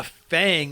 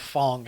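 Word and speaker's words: F.A.N.G: Street Fighter character yeah Fang or Fong uh I don't know pronounced it both ways during the reveal they in the game he calls he calls himself Fong it's probably Fong yeah uh it's an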